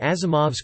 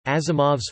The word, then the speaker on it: Asimov: in the Latin alphabet, Asimov's father spelled it with an S, believing this letter to be pronounced like Z as in German, and so it became Asimov.